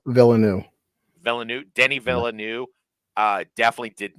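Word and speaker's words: Villeneuve: do you say his last name V villanu villanu Denny villanu uh definitely did not do that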